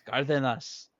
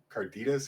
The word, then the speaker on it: Cardenas: So I'm like, Miss Cardenas. yeah, Roll your R's. Roll your R's, Foggy. yeah. Hey, but at least it was better than how what did Marcy call it, like Carditas or something?